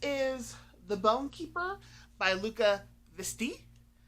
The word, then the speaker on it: Luca Veste: Next is The Bone Keeper by Luca Visti. I looked that up on how to pronounce online, so they gave me a French pronunciation. That's what I'm going with.